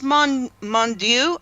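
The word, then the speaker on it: Mounduix: how do you say his last name its Mong Mong do JC had an intimate relationship one night with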